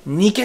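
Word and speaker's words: Nike: のがギリシャ神話の勝利の女神ニケ神です英語ではないきっていう発音するんだよね肉気取ら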